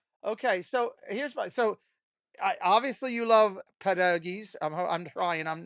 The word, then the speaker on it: pierogi: one, or pierogi is multiple.